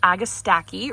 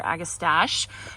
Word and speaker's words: Agastache: Then over here, I have this Agastache or Agastache. I looked up the pronunciation and it seems to be, the consensus is Agastache, but I saw both, both ways to pronounce it.